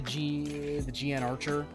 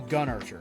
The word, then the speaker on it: GN Archer: I got all, and the GN Archer. No, the Gun Archer, that's how you pronounce it, sorry.